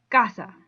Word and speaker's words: casa: madre lunes hoben so in the case of casa the next to the last syllable because hey it's a two syllable word the next to the last syllable would be the ka so when you say it you say casa not i'd be putting the stress on the sa which i'm not supposed to do i'm supposed to put